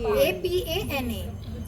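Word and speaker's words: Apana: How do you pronounce Apan, A-P-A-N-A, Apan Mudra.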